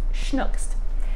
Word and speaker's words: Snooks: But Brice actually became most famous for her character, Baby Snooks, which she pronounced Schnooks.